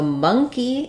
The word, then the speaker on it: monkey: and it doesn't um so monkey is like it's like money where this letter O says the schw vowel so we have monkey